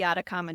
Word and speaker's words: Atacama: What is it? The Adakama Desert. Adakama Desert. I keep want to say like Adriak or something like Okay. Atacama Desert.